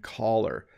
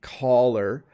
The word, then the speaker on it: collar: But color and collar. Notice the collar sounds a lot like the verb to call.